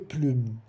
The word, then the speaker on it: plumes: Mas, aquele S no fim não vai se pronunciar.